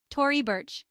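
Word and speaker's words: Tory Burch: like bang Tori Burch Tori bir simple pronunciation with stress on the first syllables Donan Don Karan rhymes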